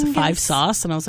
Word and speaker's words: 5SOS: SOS this is like it's not SOS it's v sauce and I was like